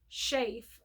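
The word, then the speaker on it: Schaef: so that was an Wilson shave is how I believe you pronounce the last name s CH AE F and the book is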